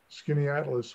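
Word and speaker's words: Skaneateles: susan e b-l-a-k-n-e-y is in skinny atlas which is spelled s-k-a-n-e-a-t-l-e-s uh jason downs to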